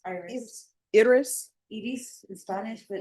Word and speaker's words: Iris: Iris in Spanish, but it's Iris. All right, no, just tell me how to pronounce it.